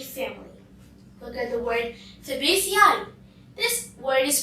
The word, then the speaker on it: Fabaceae: Look at the word Fabaceae. This word is pronounced as Fabaceae.